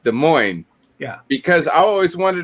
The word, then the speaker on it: Des Moines: is pronounced dust planes when des moines is pronounced des moines yeah because i always wanted to be like